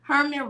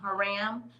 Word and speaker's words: Hiram: Herman Rhodes Reveal became the first African American to serve in the U.S. Senate. I said that all wrong, y'all. Herman or Hiram. I'm saying it wrong. Hiram Rhodes Reveal became the